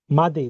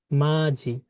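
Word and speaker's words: 맏이: মাদি, তাই তো? মাদি না, এটার উচ্চারণ হচ্ছে মাঝি।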